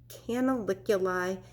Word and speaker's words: canaliculi: them those are canaliculi canaliculi means little canals one of my students taught me to remember how to say it because it sounds like can I lick your eye can I lick you lie the hole in the